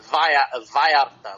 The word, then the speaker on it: Vallarta: Oh, you mean V or B? Vallarta, like vi in Spanish. The two L's are I.